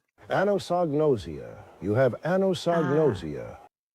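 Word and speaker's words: anosognosia: Here's Robert Stack's pronunciation. Anosnosia.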